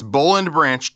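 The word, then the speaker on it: Boll & Branch: at Boleyn branch calm that's spelled Bo LL and branch calm and save 25% again 25% off right now at Bo LL and branch calm that's bull and branch calm well there was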